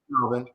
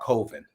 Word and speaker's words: Colvin: I thought Calvin. Calvin, that's okay. So his name is Colvin. And so tell us a little bit about the book and about Colvin.